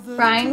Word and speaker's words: Bryan: Bryan, which rhymes with lion, failed to gain support